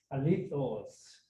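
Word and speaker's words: ἀληθῶς: 그 다음에 이제 알레토스 이게 이제 오타가 난게 우리 그 성경 헬라어 보통 배울 때는 알레라고 읽긴 하는데 요즘 그리스 사람은 알리라고 읽어요. 그래서 알리로 바꾸려고 그랬는데 그게 또 오타가 났어요. 알리토스 그게 진짜로 진정으로 indeed 이런 말이요.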